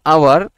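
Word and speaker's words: hour: টুক কি করেছে এক ঘন্টা এক ঘন্টা হচ্ছে আওয়ার এ আওয়ার এখন আওয়ার শব্দটা তো কেমন বলতো উচ্চারণটা এইচটা কি কনসোনেন্ট না হ্যাঁ তাহলে এইচটা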